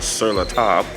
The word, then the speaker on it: Sur la Table: and i just we just learned how to pronounce it properly it's called surla top but um i am in the market for